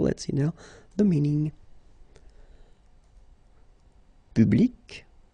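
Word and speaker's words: publique: So public at the masculine form, feminine form, public, the same.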